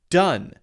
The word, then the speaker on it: done: not it is pronounced done uh which is the short u sound same as d-u-n which is not a word but that is how